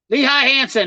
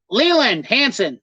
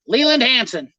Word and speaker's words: Leland Hanson: is a popular round lehigh hanson hey could you try to pronounce my name lee leland hanson leland hanson i said lehigh leland hanson i'm guessing that's right